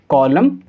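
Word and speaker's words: column: तो यहाँ भी लेटर एन और लेटर एन साइलेंट होगा। तो हम इसको कैसे पढ़ेंगे? Autumn, कॉलम, डैम।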